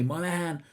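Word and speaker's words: Monaghan: We follow Tony Monahan, G is silent like Garth Ennis said in introduction, and also as Lil Wayne said in one of his songs.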